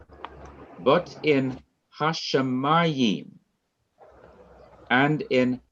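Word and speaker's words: השמים: The accent is on the syllable before the last syllable, the syllable ma.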